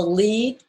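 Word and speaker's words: lede: what we call the lead and the lead is spelled l-e-d-e which shorthand it me shorthand for yeah for it's shorthand for l-e-a-d and and this started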